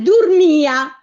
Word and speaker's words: durmia: Ma se io avessi detto, allora, al durmia, sono sempre la I e la A finali, vero? Ecco. Sì, certo. Però in questo caso avrei avuto bisogno dell'accento, perché vede come le pronuncio separate. Dur-mi-a.